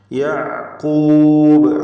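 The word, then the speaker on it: يعقوب: യഅഖൂബ് ആയിന് ഹൽക്കിയ മറ്റൊരക്ഷരം വ്യക്തമാക്കി അതും ഉച്ചരിക്കുക. ഖാഫ് തഫ്ഖീമിൻ്റെ ഹർഫാണ്, ഇസ്തിഅലാഇൻ്റെ 7 അക്ഷരങ്ങളിൽ പെട്ടതാണ്. യഅഖൂബ് ബായിൽ വഖഫ് ചെയ്യുന്നു. ഖൽഖല കുബ്ര നൽകി ശബ്ദം വളരെ വ്യക്തമായി ചലിപ്പിച്ച ഹറക്കത്ത് പോലെ കേൾപ്പിച്ചുകൊണ്ട് വഖഫ് ചെയ്യുക. യഅഖൂബ് വജ്അൽഹു റബ്ബി റദിയ.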